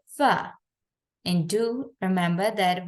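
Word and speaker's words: ف: and do remember that when the F sound is going to be pronounced and in that very part the tip of our first two read is going to be joining with the inner veter part pronounce it f F so would you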